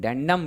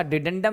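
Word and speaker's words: dedendum: हो जाएगा ध्यान रखिएगा आपका डेंडम यानी डिडेंडम एक्चुअल में इसका डिडेंडम ही उच्चारण होगा अंग्रेजी में यहां थोड़ा मिस हो गया है ठीक है ना हिंदी का जो डिडेंडम है वो ज्यादा सही है तो आप ध्यान रखिएगा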